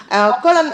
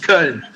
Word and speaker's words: Köln: Colin, il faut bien prononcer le nom du club pour moi parce que moi j'ai fait l'espagnol. Köln, Fortuna Köln. Köln, d'accord. Bon, exactement. En espagnol c'est différent.